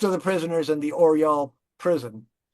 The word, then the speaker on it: Oryol: Um Most of the prisoners in the Oryol prison The city is pronounced Oryol.